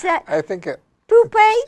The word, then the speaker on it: pupa: You may never see the flea eggs, larva, or pupa. Pupa. Pupae. I never could pronounce that word. Can you pronounce that? I think Pupae?